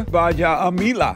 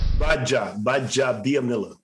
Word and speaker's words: Gbaja-Biamila: how was me kabir baja amila the former nfl defense defensive did i say your last name right baja by job dianilla oh man what are you getting normally the g is silent so you take okay